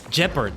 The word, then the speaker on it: Gepard: Gepard. Okay. Hard G then.